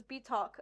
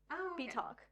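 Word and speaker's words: bitoque: And I found that like the pronunciation was BT talk on the website I found. Okay. So they because they spelled it out B E-T. B talk.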